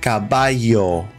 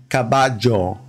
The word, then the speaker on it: caballo: will pronounce it as Caballo it's got a yo sound in other countries they'll say kabajo cabajo but in Argentina in Uruguay this is pronounced almost like a s h kabasho kabasho so when Lionel